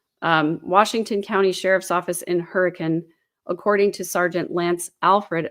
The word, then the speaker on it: Hurricane: It says Hurricane, Utah, but in Utah they pronounce it Hurricane. Washington County Sheriff's Office in Hurricane, according to Sergeant Lance Alfred, a spokesperson for the sheriff's office.